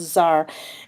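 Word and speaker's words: czar: and Ivan the Terrible was crowned the first Zar of Russia that word CZ a is pronounced Zar and it's just like a king or Emperor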